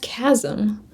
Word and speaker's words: chasm: Yeah, it's spelled chasm, but it's it's pronounced chasm.